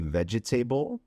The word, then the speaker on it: vegetable: that it would be vegetable, but apparently it's not pronounced that way. The correct pronunciation would be vegetable. So instead of 4 syllables, we have 3 syllables.